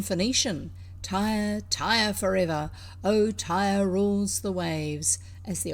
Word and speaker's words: Tyre: a true born phoenician tire tire forever oh tyre rules the waves as the old song says